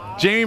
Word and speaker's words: Jaime: Well, first of all, his name is Jaime Moses or Kansama. Well, if you pronounce, Hispanically, it's pronounced, like Jesus or Jesus, right? Yeah. No. Yeah, Hispanic, like Edward James Olmos.